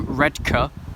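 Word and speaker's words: Redcar: at Middlesbrough on a book timetable Saltburn through red car even busier correct pronunciation red car they get very pissed see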